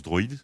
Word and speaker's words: DrOID: peu un peu long ça se prononce droid comme ça tout le monde